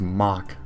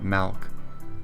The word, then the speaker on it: Malk: I think it's Mock, not Malk. Because oh shoot, it rhymes with talk, sorry.